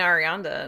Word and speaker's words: Arianda: a little bit um disappointing to see nina arianda and or did i say her name wrong no you got it yeah uh to